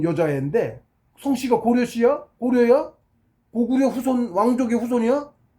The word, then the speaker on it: 고려: 코리아라고 그러지. 고려잖아. 고려. 지네식 발음인지 어쩐지 발음이 틀린 거지.